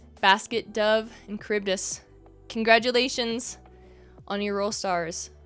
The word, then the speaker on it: Charybdis: Fun fact, I used to pronounce Charybdis as Chartybis because I didn't know. Basket, Dove, and Charybdis.